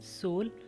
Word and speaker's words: soul: जैसे साउंड में स्वर आउ था मगर अब यहाँ पर OU के बाद L आने से उसकी प्रोनाउंसिएशन बदल गई। पहला शब्द देखते हैं। SOUL सोल, आत्मा।